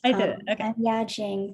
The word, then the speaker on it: Yajing: is who is left yajing I think hasn't gone right yeah I'm correct how I say your name well that's correct y Jing pronounced she her first year